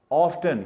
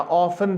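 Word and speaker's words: often: Sometimes, ऑफ्टन या ऑफन भी इसको पढ़ते हैं, प्रोनाउंसिएशन दोनों सही है।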